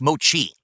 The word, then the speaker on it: mochi: slamming these things back phone going off it's pronounced Mochi thank you I never knew that mochi okay they're very generic like I said if